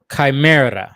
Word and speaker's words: Chimera: Because for me, when I see the word Chimera, how do you pronounce that? Chimera.